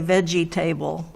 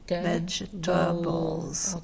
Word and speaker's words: vegetables: there's an a there and vegetables we say we don't say veggie table but that's what it looks like we say veg bowls vegetables yes three syllables but even though there's table there we don't say table okay okay all right